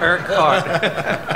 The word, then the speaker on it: Urquhart: It's only 2 syllables. I go with what was it, Urquhart? Urquhart. Urquhart. Yeah. Oh, that's horrible. And so, dude. The way you say his name irks him. And it hurts his heart. Yeah. Irk heart.